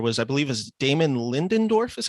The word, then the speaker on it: Lindelof: week, where it was, I believe, is Damon Lindelof is how you pronounce his name? Lindelof, yeah. Lindelof.